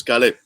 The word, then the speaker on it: Caleb: So a lot of people know me by my name, Caleb, but pronounced in Puerto Rico is Caleb.